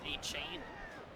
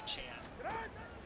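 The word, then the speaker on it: Achane: I think it was A-Chain to start, and then it became Achan.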